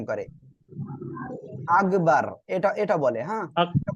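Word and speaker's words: أكبر: আর সবাই ইনশাআল্লাহ আমার সাথে সাথে বলবেন আল্লাহু আকবার সবাই বলেন আল্লাহু আকবার আল্লাহু আল্লাহু আকবার দেখেন এখানে এই যে আল্লাহ শব্দের লাম এর লামে মোটা করে পড়তে হবে আল্লাহু আকবার আল্লাহু আকবার আল্লাহু আকবার দেখেন অনেকে কি বলে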